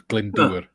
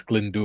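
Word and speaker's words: Glyndŵr: So in Welsh, a W is pronounced as a U, and a Y is pronounced as an So it's Glendower.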